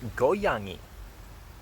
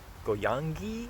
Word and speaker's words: 고양이: I think that's this middle syllable when this character is the final character. I'm pretty sure it's not really a hard NG. It's like the G in that NG ending is kind of like a softish